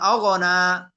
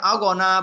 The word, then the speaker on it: أغنى: এরপরে মা অগনা, অনেকে অগনা বলবে, অগ না, অগ না, উচ্চারণ একবার হবে।